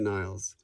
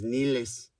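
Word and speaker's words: Nilles: i a-n-i-k-a niles n-i-l-l-e-s i'm not sure if that's actually the way she pronounces it but anyway i heard some of i heard a guy say it like i heard a guy pronounce that name her name in front of her for that video and she didn't correct him who knows maybe her grandma says nilis and she just goes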